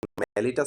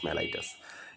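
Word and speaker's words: mellitus: মেলিটাস, এটা মেলিটাস মেলাইটাসও হয়।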